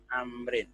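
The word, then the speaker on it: عمرو: Maka ungkapan sahabat kayak gini berarti dorbu, redaksinya adalah dorbu amrin ya. Nah, khusus untuk nama Umar, ya, dia harus ada tambahan wawu atau kalau jer sama rofa harus dikasih wawu ya. Itu nama Amr ya.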